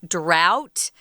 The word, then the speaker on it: drought: fire so a drought this is a weird word guys um it doesn't it isn't spelled like we say it drought but that's how you say that word drought just not having enough